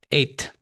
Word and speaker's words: eight: E tiene un dato curioso y es el hecho de que no pronunciaremos la hilage, right? So, nadie dice o algo por el estilo, sino simplemente anulamos el sonido de la hechice e eight actually, de hecho,